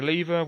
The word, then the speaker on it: lever: There's a lever. Will you move it? Yes. For some reason Americans say lever. I've never understood that. I mean, surely it would only be lever if it had two V's.